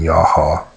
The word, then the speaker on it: Yahweh: They worshipped other gods other than the one original deity of Moses, which would have been Yahweh, 2 syllables.